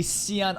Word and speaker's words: Cyan: The end of the lucky Shian arc. And yes, I'm going to pronounce it like that till the day I die because the Japanese voice actors do the same thing.